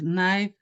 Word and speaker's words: knife: For example, like knife, knee, K is silent.